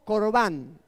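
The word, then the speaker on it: קרבן: aquí se pronuncia en el hebreo, allí está pronunciado por Jesús como corbán.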